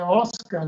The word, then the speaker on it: Ozcar: É só me procurar, é só escrever Oscar com Z, porque é Oscar, né?